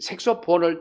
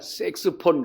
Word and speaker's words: 색소폰: 근데 색소폰이라고 하는 것은이 색소폰을 처음에 만들 때에이 만든 사람이 무슨 색소죠? 그 사람의 이름을 따 가지고 색소폰 그러는데 흔히 우리가 섹스폰 근데 섹스폰이 아니에요. 색소 색소폰이에요.